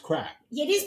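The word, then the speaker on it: craic: Yeah, but it's pronounced crack. Yeah, it is pronounced crack, which is a good time.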